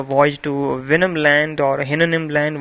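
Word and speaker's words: Houyhnhnm: to venom land or hynonym land whatever it is pronounced uh although both are correct venom or hennanim the horses there were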